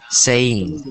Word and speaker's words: saying: It's pronounced like this. Saying. Saying. Saying. Saying. It's two syllables.